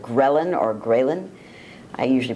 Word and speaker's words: ghrelin: And then the other peptide that really works in antiphase to leptin is a peptide called ghrelin or ghrelin. I usually pronounce it ghrelin.